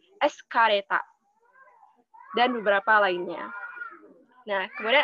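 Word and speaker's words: エスカレーター: Kemudian eskalator, itu eskareta.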